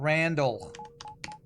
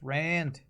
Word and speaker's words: Rand: By the way, my name is not Randall. I just said. It's Rand. And it's not my name, but it's my fake name. My fake Twitch name. You're saying it wrong. It's not Randy. It's not Randall. It's not, I don't know, Salt Lord or anything else. It's just Rand.